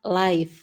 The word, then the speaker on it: live: Jadi memang ada dua ya kata lif ini bisa disebut diucapkan lif bisa diucapkan live. Jadi memang dua. Tapi kalau yang di sini itu eh live. Live itu artinya tinggal ya. Tinggal di mana? Kalau live itu adalah tayangan atau siaran langsung. Itu dibacanya live. Tapi kalau ini dibacanya lif.